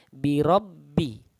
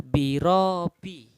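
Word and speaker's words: بربهم: adalah biro PBI Mbak Di sini ada tasydid maka cara membacanya huruf ro ini masuk ke dalam huruf Mbak atau ditekan birobbihim Kebanyakan orang membaca Bacanya adalah biro Pi rohnya tidak menekan huruf ba Jadi kurang tepat dan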